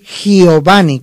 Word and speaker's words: Giovanni: Mi nombre es italiano, se escribe Giovanni con G de gato y O, B pequeña, O V.